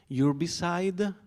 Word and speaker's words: urbicide: it's about this term, urbicide. Urbicide, prononcé in français.